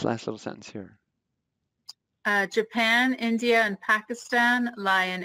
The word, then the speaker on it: Japan: more of these um japan notice the j is pronounced like a y which we'll get into